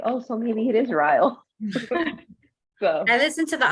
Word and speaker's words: Ryle: have been calling him Ryle the whole time not Riley I don't know how to say it oh how to pronounce it because I just assumed that it was like Kyle with an R I was calling him